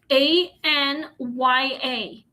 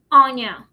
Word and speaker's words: Anya: name is Anya, and it's in four letters, A N Y A. So, that's how you pronounce my name, Anya, instead of Anya.